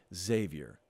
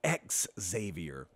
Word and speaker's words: Xavier: pronouncing Worthy's name wrong I go really really hard on the X and it's just Xavier it's not X Xavier but I had a